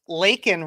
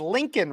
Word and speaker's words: Laken: it wasn't even that he mispronounced Laken Riley's name as Lincoln Riley no it was this